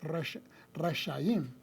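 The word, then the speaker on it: רשעים: original hebreo rash shinin lo cual se pronuncia resim malvados en plural res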